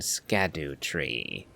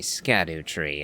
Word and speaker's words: Scadutree: but don't expect miracles you will occasionally hear me say scatter tree every now and then so yeah just bear